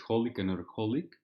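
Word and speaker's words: xxxHOLiC Another HOLiC: And then the Ex-Holic Another Holic, I think the X's aren't pronounced, which is Holic Another Holic, which I read last year.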